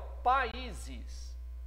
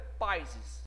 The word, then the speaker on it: países: Países. A pronúncia não é países. Você pronuncia países. Então, esse A e esse I, né, ficaram naturalmente um em cada sílaba.